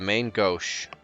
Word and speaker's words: main gauche: to pronounce this word uh gosh or gauche gauche okay the main gauche okay meaning lacking of